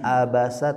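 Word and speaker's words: عبس: Awas, bukan huruf hamzah abasa tapi a.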